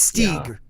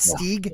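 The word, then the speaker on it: Stygg: wow s-t-y-g-g i know spelled a little different but pronounced the same no i always say your name wrong don't i it's stig right stig yeah i always say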